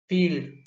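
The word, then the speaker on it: field: फील्ड third one है सी एच आई ई एफ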